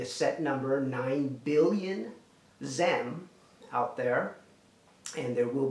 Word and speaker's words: XEM: and by the way the tokens are called zam so name is new economy movement and xem is the token or the coin and it's spelled xcm okay there is a